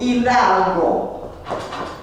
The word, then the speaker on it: Hidalgo: H is never pronounced. You will, whatever comes after the H, that is what you will pronounce. For example, Hidalgo.